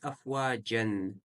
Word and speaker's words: أفواجا: Вот здесь афваджан. Мы дальше пойдем это правило. Когда ан остановка, читаем как а с удлинением.